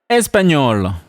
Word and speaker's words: Espagnol: Espagnol. Espanol will add an E to make it feminine. Espagnol. The pronunciation remains the same. Espagnol, Espagnol. Allemand.